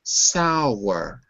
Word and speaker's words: sour: that okay very good uh sour two syllables sour what is sour it's